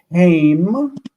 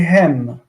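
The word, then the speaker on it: הם: We don't say haim, we say hem.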